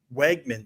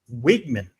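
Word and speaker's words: Weigman: In the pronunciation, it's Wigman. We've been saying Wegman.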